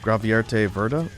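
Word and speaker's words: Gravierte Würde: It's pronounced Gravierte Verda.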